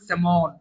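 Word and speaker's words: salmon: আরো আছে আপনার স্যালমন, লিখবেন স্যালমন কিন্তু উচ্চারণ করবেন স্যামন, ঠিক আছে?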